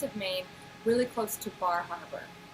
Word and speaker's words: Bar Harbor: My husband and I lived on the coast of Maine, really close to Bar Harbor, or Bahaba. That's how they say it.